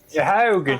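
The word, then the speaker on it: Sahuagin: by a bunch of how do you pronounce again? Sahogan. Sahan. Sahogan.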